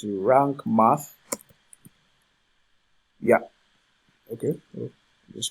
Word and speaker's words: Rank Math: Rank, is it rank or rant? It's rank math.